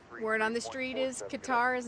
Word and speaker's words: Qatar: So Phil, the thing is Qatar is actually the correct pronunciation. Look it up. I'm not lying. It's just that we as Americans refuse to accept it. So I say both.